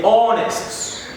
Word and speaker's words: honest: We want to see which are these examples of these words that are silent, or that H is silent in these words. Example, we say honest, is very honest.